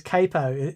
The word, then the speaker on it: capo: No, but It's capo because it comes from Italian capo something or other.